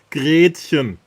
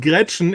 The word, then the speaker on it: Gretchen: It's Gretchen. Okay? Yeah, because if you pronounce it Gretchen, it's a little tiny fishbone, right?